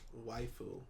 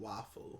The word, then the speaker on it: waifu: Waifu, not wafu.